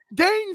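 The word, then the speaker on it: Dhane: Buffalo oh oh whoa I know right now Dane Smith baby that's spelled d-h-a-n-e like the dog stepped up for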